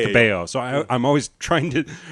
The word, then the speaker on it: Cabello: I It's spelled like Cabello but because like it's the Hispanic name is pronounced Cabo.